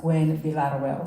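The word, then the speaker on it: Gwinn-Villaroel: be a lot of well so it's actually pronounced Gwen villarrewell so if you get close to that I'm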